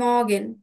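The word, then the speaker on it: Morgen: দেখা হয় সেক্ষেত্রে আমরা কি বলতে পারি গুটেন মর্গান ইয়া গুটেন মগেন মগেন নেটিভরা কিন্তু এভাবেই উচ্চারণ করে মগেন মগেন ইয়া এভাবে তারপর মানে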